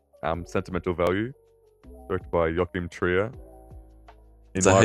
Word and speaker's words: Joachim Trier: our next film um Sentimental Value directed by Yokim Tria. Is that how you say his name? Yeah. You don't say you don't say Joe Chim.